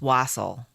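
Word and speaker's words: wassail: know if I'm saying it right wasle it's wasle according to Google pronounce it's wasle the word wasle even popped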